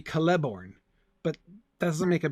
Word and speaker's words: Celeborn: Because it's a hard C, I always want to put the stress on the syllable with the hard C. Nobody says Celeborn. No. Galadriel's husband? I mean, technically, if the stress in Elvish names is always on the second to last syllable, then it should be Celeborn.